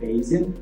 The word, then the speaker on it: Bayesian: So some people pronounce it in a really funny way, but I pronounce it Bayesian.